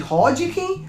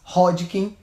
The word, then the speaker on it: Hodgkin: cirurgião inglês chamado Thomas Hodgkin, então o nome dele, o sobrenome dele era esse, Hodgkin, com H. A gente lê como se fosse um R, pronuncia R, mas escreve com H.